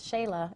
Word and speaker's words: Xela: And that's the village of Xela, which is the second largest city in Guatemala. And it's Xela, it's spelled X-E-L-A. X's in Spanish are an S-H.